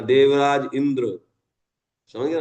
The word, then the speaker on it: इंद्र: इंदिरा, है ना, इंद्रा, इंद्र, इंद्र ना, इंद्रा नहीं होता है इंद्र, है ना, ऐसे बोलना चाहिए, है ना। देवराज इंद्र, समझ गए ना।